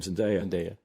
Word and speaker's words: Zendaya: And I'd wondered why Zendaya, or how do you pronounce her name? Zendaya.